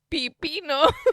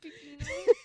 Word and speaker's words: pepino: No, it's because you keep saying pipino. I said pepino. It's pepino.